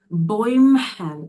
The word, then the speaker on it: Bäumchen: Бо тут ставите дві крапочки, виходить, воно читається ой, Bäumchen, das Bäumchen. Ось така ситуація з деревцем.